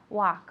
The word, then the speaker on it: walk: think so no okay remember with the verb talk and walk the L is completely silent okay we don't pronounce it talk and walk okay now I'm going